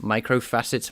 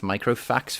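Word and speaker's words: microfacet: sudden you'll realize like I was calling um micro facets microax for about like like half an hour and I realized I've been calling it microax to change everything.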